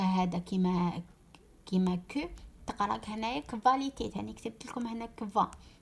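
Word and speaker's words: Qualität: دوكا نعطيكم باغ اكزامبل هنا هاد ليكزامبل كفاليتيت سي لا كاليتي كفاليتيت سي لا كاليتي داكو. هنا كيفاش قراينا كيفاش نطقناها كفا نطقناها كفا نديرو اونتر غيومي نطقناها كفا تنطق كفاليتيت داكوغ.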